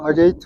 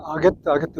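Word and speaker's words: Agate: 이게 스펠링은 AGAT, 그 아게이트 같지만 실은 미국 사람들이 읽었던 아게트 그럽니다.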